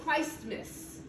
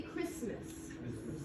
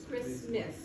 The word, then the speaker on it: Christmas: says picture okay and the last sound for t is silent the best example of this i don't say christmas i say christmas so sometimes i'm gonna